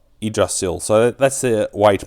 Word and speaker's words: Yggdrasil: So the way to pronounce this is eidrasil. Idrasil. So that's the way to pronounce it. So it's like an i instead of a y in that pronunciation.